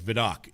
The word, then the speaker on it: Vidocq: Yeah, and it's obviously very French, and I was like, I just kept saying Vidocq, and that's how they kept saying it.